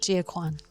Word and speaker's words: Gia Kuan: Today I am with Gia Kuan, right? Yes. Is it the right pronunciation? Correct, Gia Kuan.